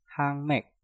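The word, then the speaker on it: 학맥: Hak diakhiri dengan giok, setelah itu diikuti kata mek yang diawali dengan miem. Nah, untuk yang ini juga sama, kalian harus mengganti gioknya dengan suara nyiyeng. Cara pengucapannya menjadi hangmek, hangmek, hangmek.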